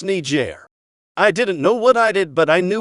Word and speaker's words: Niger: teacher who was black I saw that country and pronounced it the offensive way complete innocently mind you I hadn't ever heard the country name pronounced and I don't think I even knew of the slur at that point my teacher got visibly upset but seemed to know it was unintentional and innocent she corrected me and said it's pronounced Niger I didn't know what